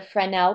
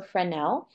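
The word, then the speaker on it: Fresnel: before it's called a friend el prism the S is silent so friend nel and what it is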